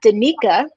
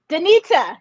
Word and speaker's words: Danita: league scot soccer team dc united named uh danica wait yeah no i'm singing her name wrong why because i can't say it danita johnson the president the president of business operations